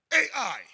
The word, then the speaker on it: Ai: AND HE SAYS AND GO UP AND ATTACK AI. That's how you translate my my wife said I must pronounce it like this is Ai, eh?